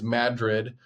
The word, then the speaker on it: Madrid: Um, as you as you know in in Iowa, all the town names that look like another place in the world we pronounce differently. So Madrid is Madrid.